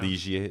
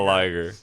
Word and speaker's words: Ligier: like one or two ligiers is that how do you say that something like that it's french right yeah it's not like it's pretty it's not a liger so and they're pretty